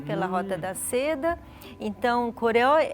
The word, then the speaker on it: Goryeo: Goryeo, né, que ela pronunciou Goryeo, mas é Goryeo, né, oxítono, né, Goryeo.